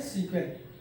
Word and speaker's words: SQL: हम लोग लिखते हैं एसक्यूएल है बट प्रोनाउंस किया जाता है सीक्वेंस, यानी स्ट्रक्चर्ड क्वेरी लैंग्वेजेस।